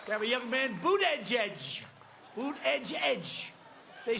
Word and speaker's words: Buttigieg: I like when he says Boot Edge Edge. Well, you have to pronounce it correctly, Jesse.